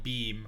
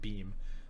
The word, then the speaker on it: Beahm: otherwise known as a guy beam or bi pretty sure he pronounced beam has been banned again